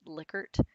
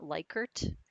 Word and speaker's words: Likert: and by the way that's how you say it lickert it's not likert it's a guy's name that was named after